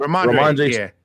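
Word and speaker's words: Rhamondre: Ramondre.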